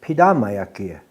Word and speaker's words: pidamayakia: The proper way to say it is pidamayakia.